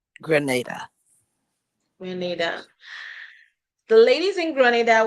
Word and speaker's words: Grenada: Now the ladies in Canada is how do you pronounce there? Is it Granada? Grenada.